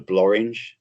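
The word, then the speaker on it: Blorenge: One is called the Blorange, which is, so whoever says nothing rhymes with orange, come to Abergavenny, because the Blorange mountain is there.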